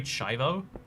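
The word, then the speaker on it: Schiavo: you live in america it's called terry chivo but it's spelt funny it's not spelt shivo um so there was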